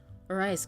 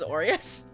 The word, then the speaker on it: Orius: just realized I pron I've been pronouncing it Oras myself. But didn't they say it was Orius? Cuz I think when I read it, uh, well, no, when when I when I read it and heard the voice line, I said like straight up I said, "Oh, I thought that would have been pronounced like Arias or something, but they're saying Oreus."